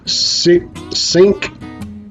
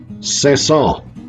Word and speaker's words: Cinq Cents: looks like it says c-synch since that's what it looks like all right but it's actually the word for 500 in French and I looked it up and the way he actually supposed to pronounce this is sets off it sounds like kind of sea salt but just kind of nasally maybe less salt so this is shimei